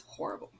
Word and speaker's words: horrible: or coffee because it's horrible so looks exactly like it does in english you just don't pronounce the h of course in spanish but he says it's